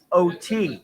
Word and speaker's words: Oatey: Okay, not the drink, people. Not Oatey. Not Oatly. Oatey.